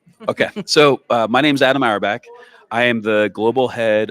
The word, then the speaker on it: Auerbach: How do I pronounce? Yes. Auerbach?